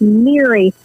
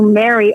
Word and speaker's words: Miri: And I just have to say, so in my homeland, we pronounce my name as Miri as opposed to Mary over here.